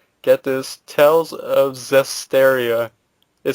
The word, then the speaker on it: Zestiria: And recently it was found of a trademark called, get this, Tales of Zestiria. It sounds a little too close. What? It's Zestiria. It's spelled Zestiria. Tales of Zestiria.